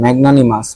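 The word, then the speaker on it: magnanimous: ম্যাগনানিমাস, ম্যাগনানিমাস প্রায় আসে।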